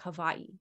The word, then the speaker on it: Hawaii: anything about Hawaii anyways I don't even say it right you're supposed to say like Havi or something doesn't matter the colonial